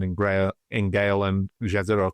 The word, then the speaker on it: Jezero: Gra in Gale and Jezero crater or Yzido crater I think it's pronounced it's also why we're